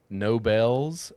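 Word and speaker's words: Knoebels: Spelled with a K. What is it? Wait, what? What part is Okay, say the name again. No bells. How do you spell K N O E B E L S.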